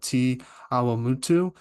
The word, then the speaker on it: Te Awamutu: I've been trying to get the pronunciation right as long as I could, but you're from a town called Te Awamutu.